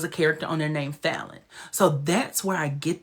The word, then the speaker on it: Fallon: My name is Fallon, but it's pronounced Fallon. People say.